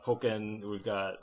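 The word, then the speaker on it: Pokkén: I've been calling it Pokken, like Tekken. Well, to me, Tekken. It's Pocket Monsters. So I would say Pock first instead of Poke, if that makes sense.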